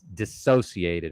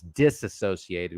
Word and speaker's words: dissociated: would be known as dissociated, although it's generally mispronounced as disassociated, which means the exact same thing as dissociate, right?